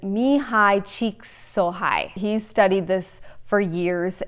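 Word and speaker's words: Csikszentmihalyi: his name it's a really hard one to pronounce but it's me hi cheeks so high he studied this for years and it's a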